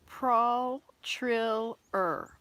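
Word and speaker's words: Pralltriller: t r i l l e r it's pronounced pral trill er p r p-r-a-l-l t-r-i-l e-r e-r pro-trill er pro-triller let's look at this wow william would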